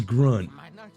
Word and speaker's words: Grunt: My name is Grunt. rhymes with grug.